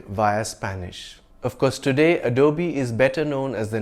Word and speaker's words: Adobe: Of course, if you can afford a luxury sports car by Lamborghini, you can pronounce it any way you please. It's not Adobe, but Adobe.